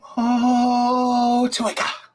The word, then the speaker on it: Motueka: Motueka.